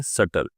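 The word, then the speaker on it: subtle: Next है शटल। अब friends इस वर्ड को याद करने की जरूरत है कि यहां पे बी प्रोनाउंस नहीं होता है।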